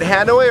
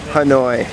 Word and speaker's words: Hanoi: the cities correctly okay is it hand away or Hanoi Hanoi Hanoi what's up Asia we